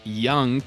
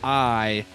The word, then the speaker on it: Iung: And for people listening, so, and your last name is Iung, pronounced Young, but it's Iung.